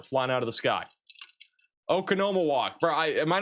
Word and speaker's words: Oconomowoc: But Madison, back down towards Watertown, Oconomowoc, Menominee Falls, Milwaukee, You guys are going to be kind of under the gun here, at least for this line of thunderstorms.